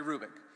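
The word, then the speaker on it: Hrubec: e c terry krubik the h is not pronounced terry rubick she did studies of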